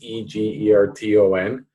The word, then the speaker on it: Egerton: People say it a different way, but it's Egerton, Ryerson.